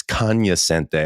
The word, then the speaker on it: cognoscente: Yeah, Matt Money Smith, the voice of the Chargers, always gave me crap because he said, you're not pronouncing it correctly. It's cognoscente. I was like, all right, Mr.